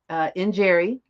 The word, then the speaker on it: Njeri: There's no English equivalent for the sound between the N and the J.